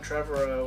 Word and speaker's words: Trevorrow: But Colin Trevorrow or something. Trevorrow, that's how you pronounce it.